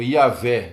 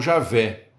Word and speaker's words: Iavé: IWHW, ou Iavé, né? Foi traduzido para nós, para a gente poder pronunciar, foi traduzido como Iavé ou Javé.